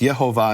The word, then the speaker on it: Yehovah: Now, in English, people call that Jehovah, but in the Latin, it's actually pronounced Yehovah, and later Latin, it would be Yehovah.